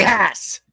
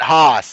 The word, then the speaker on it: Hass: Ray Hass. He says he says he says he says not Hos. He said I'd rather be he says I'd rather be just Ray than Hos.